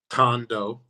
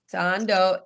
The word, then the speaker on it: Thando: So, let's get the name right, you know, because sometimes people just continue to pronounce names. So, you said it's Tando, correct? Tando. Tando.